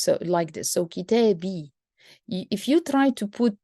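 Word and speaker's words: كتابي: Because the ya is very strong sound, and to be able to pronounce the ya, you have to add a kasra before it, like this. So kitabi.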